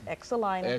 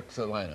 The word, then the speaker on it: Excelina: It's Excelina. Excelina. My mother named me that. That's the way it is. Okay. And so you just remember to pronounce the X.